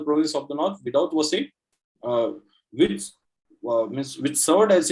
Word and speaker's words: Vasai: So it is Vasai, which is called Basing by the Portuguese. So they used to pronounce it as Vasai.